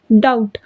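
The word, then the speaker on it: doubt: तो यहां पर हम डाउट बोलते हैं ना कि डॉप्ट बोलते हैं। डाउट एस तो नहीं कहते ना तो हम लोग डाउट कहते हैं। तो यहां पर बी साइलेंट है तो हम लोग करेंगे बी।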